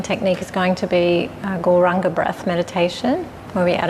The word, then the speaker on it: gauranga: to add the mantra gauranga to our breath we're going to say it in four syllables gore rah Oh God so as